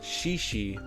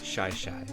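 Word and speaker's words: Shi Shi: the shaishai beach trail some people call it shishi but i believe the correct pronunciation is shy shy and i believe it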